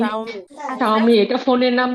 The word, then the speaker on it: Xiaomi: XIAOMI উচ্চারণ কি হবে আমি জানি না। আপু আপনি ওই আপু এটা শাওমি শাওমি শাওমি আচ্ছা শাওমি এটা ফোনের নাম দিয়ে রেখেছে ফোনের মডেল।